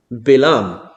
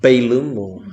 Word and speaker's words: Bilaam: abraham is this individual bilaam if we don't recall exactly who bilam was or bailum however you want to pronounce his name in english so belong later on